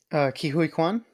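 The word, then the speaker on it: Ke Huy Quan: Kihui Kwan.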